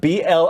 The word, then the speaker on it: Blizzard: We called it the Blizzard, Blizzid. That's how they pronounce it. That's how they pronounce it in Massachusetts.